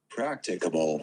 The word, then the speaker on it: practicable: if i got this practicable here's how you pronounce it practicable can you get that and then there's this